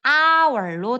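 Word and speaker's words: hour: 이은 H라고 하는 철자로 시작이 되지만 여기에 있는이 H는 묵음으로 발음이 되지 않아 발음은 아월로 됩니다.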